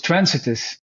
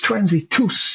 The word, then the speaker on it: Transitus: it was uh he he even changed the pronunciation of the title transitus. you know, I was transiest. No, he said, "No, no, it's transitus, you know."